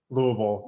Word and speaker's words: Louisville: Louisville? Louisville. Yeah, it's this really kind of dull, slurred word. You know, it's just the jargon when you're in Kentucky.